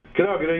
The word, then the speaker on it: Kragerø: I hope I pronounce it correctly. Is it Kragerø? Kragerø, yes. That's Kragerø.